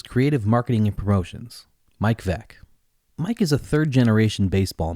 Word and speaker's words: Veeck: and his father, William Veeck Jr., who you probably know as Bill Veeck. Their last name is spelled Veeck. But, as Bill's 1962 autobiography famously told us, it's pronounced Veeck, as in wreck.